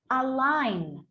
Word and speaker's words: align: So this one, it's a challenge because in this case, we have the word, yes, we don't pronounce it. Normally the letter is ch or k, right? Or k. If I pronounce it individually, right? But then here, I just don't make the sound. Listen, align, yes?